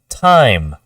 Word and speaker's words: time: the IM m e because of the e at the end the I says its name that e is silent we just say time if you were not